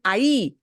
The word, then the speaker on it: ahí: And the only thing that you had a little trouble with, and this is a normal thing, ahí. Yeah, that H won't be pronounced, right? Ahí.